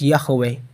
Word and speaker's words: Yahweh: in that video that the yhwh engraved in the mobait stone which is preserved in the forest museum was pronounced as yahweh in other words yahweh